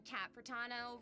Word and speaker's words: Cat Protano: I'm Cat Protano, rhymes with Capitano, the voice of wait, her name is Cat Protano?